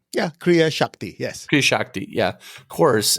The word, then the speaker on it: Kriya Shakti: Am I pronouncing that right? Yeah, Kriya Shakti, yes.